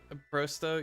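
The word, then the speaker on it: просто: Not o, not oi, not o, or or o, or whatever. Just an o.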